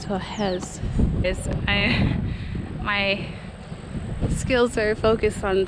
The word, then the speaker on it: Torres: Here in Brazil, they don't pronounce their R's like R. They pronounce them like suspiros. So Torres is Torres.